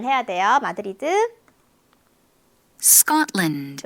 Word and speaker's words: Scotland: Scotland. 이것도 우리는 스코틀랜드 다섯 음절이지만 Scotland 거의 두 박자 안에 끝납니다.